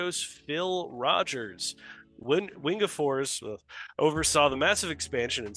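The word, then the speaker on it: Wingefors: So, correct me on the pronunciation here. Lars Windfors is stepping. But yeah, Wingapors.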